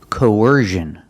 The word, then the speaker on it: coercion: at this word coercion we see c n again but it's making a different sound it's not making the sh sound like in fish and wish it's making the z sound like Invision or decision it's the same position as sh like wish and fish sh sh but you make a voice you make vibration make vibration here that's the sound we want Vision decision and now we have